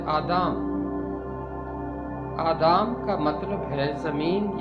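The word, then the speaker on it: אדם: باپ، یعنی حضرت آدم۔ آدم کا عبرانی تلفظ ہے آدام۔ آدام کا مطلب ہے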